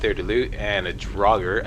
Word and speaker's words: Draugr: There's a trap in here, there's a chest there to loot, and a Draugr. I believe this is pronounced Draugr.